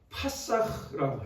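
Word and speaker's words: פסח: 히브리어로는 동사가 뭐냐면 이렇게 건너가다 뛰어넘다가 파사흐라고 해요. 파사흐. 한번 우리 따라 봅시다. 파사흐. 네, 우리 히브리어 발음은 이게 중요해요. 파사흐 이렇게.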